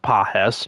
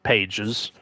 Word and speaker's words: Pages: 87 Heliot Ramos 87 Andy Pahes. It's pronounced Pahes not pages.